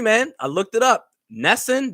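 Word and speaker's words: NESN: Nesson, that's the New England Sports Network. I think that's how you correctly say the acronym.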